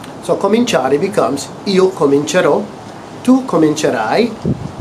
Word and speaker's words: cominciare: For cominciare, again we drop that I at the end of cominciare. That I-A-R-E sound. We drop the I to maintain that soft C sound. So cominciare becomes io comincerò.